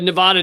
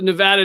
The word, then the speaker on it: Nevada: And so the Nevada Department of Transportation, et cetera, also city of, did I say it right?